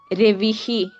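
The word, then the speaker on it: രവിഃ: ഇങ്ങനെ അച്ചിൽ അവസാനിക്കുന്ന അല്ലെങ്കിൽ സ്വരാക്ഷരങ്ങളിൽ അവസാനിക്കുന്ന പദങ്ങളാണ് നമ്മൾ ഇതുവരെ പറഞ്ഞിട്ടുള്ളത് അപ്പോ ഈ ബാലഹ എന്ന്വെച്ചാൽ ഹ അതിന്റെ ഉച്ചാരണം എങ്ങനെയാ വരുന്നത് അവസാനം അ എന്നാണ് വരുന്നത് രവിഹി ഇ എന്ന് സ്വരത്തിൽ അവസാനിക്കുന്നു വിഷ്ണുഹു ഉ എന്നുള്ള സ്വരം ഉച്ചാരണത്തിൽ അങ്ങനെയാണ് വരുന്നത് അപ്പോ ഇതിനെ അജന്ത ശബ്ദങ്ങൾ എന്ന്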